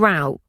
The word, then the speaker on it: row: Row and row. Homographs Explained. The homograph row as a noun means a line facing one way. It rhymes with go and no.